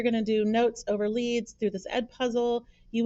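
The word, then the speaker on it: lede: It's pronounced lead. It rhymes with seed, not lead.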